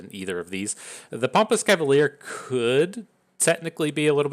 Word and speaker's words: Chevalier: If you want to stop and pronounce this, it's Ke, C-H-E, Va, V-A, and then liar. So it's Cavalier, right?